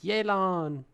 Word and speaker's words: Yelan: video all right so that's how we're going to pronounce it yelan yay absolutely photogenic that's